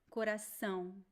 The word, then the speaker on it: coração: Why is there M sound at the end of There is no M, it is ow. You don't have to close your lips. Nope. Coração, coração. It is a nasal A sound.